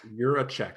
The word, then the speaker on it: Jiracek: sense say your last name one more time you're a check like you're a check you're a check all